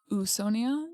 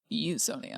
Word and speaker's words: Usonia: Eonia is the correct pronunciation. It is. Yes. Okay. Not usia, it's Eonia.